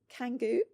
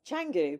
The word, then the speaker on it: Canggu: Some of my friends have been like, so where do you live? Canggu? I'm like, no, Canggu. But I'm like, it reads Canggu if you're British.